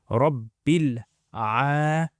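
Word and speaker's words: رب العالمين: So you join that alif is silent. Bil lamina. Bil lamina. So if you say it all together, Rabbil alamina.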